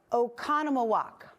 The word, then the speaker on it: Oconomowoc: So what do you think, or how to pronounce this one? This is Oconomowoc.